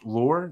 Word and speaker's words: Loor: the Facebook page at watch lore that's spelled l-o-o-r watch lore and uh